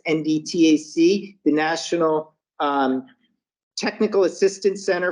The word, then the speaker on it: NDTAC: Assistance National Center, which is referred to as NDTAC, is how that's pronounced, NDTAC, the National Technical Assistance Center for the Education